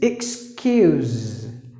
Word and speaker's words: excuse: the next one is excuse the letter e is silent and the letter S must be pronounced with the Z sound you know you remember